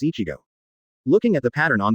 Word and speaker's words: Ichigo: It's an anime where the main character is Kurosaki Ichigo, and the Japanese pronunciation of his name is Ichigo.